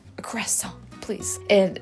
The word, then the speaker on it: croissant: I ask for a croissant, they're like, what? So I even have to do it, like fake the American accent, a croissant, please. And it's like, but I understand, the R is pronounced differently, and I guess it's